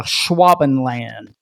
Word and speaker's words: Schwabenland: And supposedly this was named after the ship the expedition used, which was the Schwabenland, I believe is how it would be pronounced.